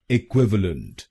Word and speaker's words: equivalent: और इस शब्द में आपको दूसरे शब्दांश पर यानी QUIV पर जोर डालना है। इक्विवेलेंट इक्विवेलेंट। गलत प्रोनाउंसिएशन में हम VA अक्षरों पे जोर डालते हैं। इक्विवेलेंट। तो इस शब्द को इक्विवेलेंट नहीं बोलिए, इसको बोलिए इक्विवेलेंट इक्विवेलेंट।